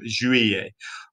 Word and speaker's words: Juillet: It almost sounds like something a little bit rude within the middle of it. Okay. It's not quite, but that's how I'm trying to remember the pronunciation of Juillet.